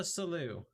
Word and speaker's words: Sollew: in getting to solo salute and i'm pretty sure it's salu because i might have cheated and read ahead and figured out what word rhymed with salute so that i could pronounce it right so there's that all